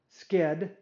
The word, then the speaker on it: sched: at these three functions i'll pronounce this one skid so i'll look at functions yield skid and scheduler and i'll